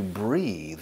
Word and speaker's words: breathe: Now to breathe is respirar. And it's spelled breathe, con E al final. The pronunciation is breathe, the th vibrada. breathe.